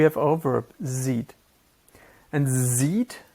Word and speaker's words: sieht: And sieht is pronounced a bit differently than the English word to see, but you hopefully see the relation.